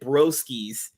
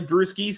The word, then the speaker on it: Brewskys: I read your name I thought he you pronounced it brosis you know oh yeah right but no it's literally brusis as far as you know brewery beer all